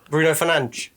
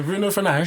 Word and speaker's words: Bruno Fernandes: Bruno Fernandes. Yeah. Yeah? That's it. Yeah. Okay. Because he's corrected people. Yeah. Corrected Yeah. the two times, Bruno, isn't it? yeah, Bruno Fernandes.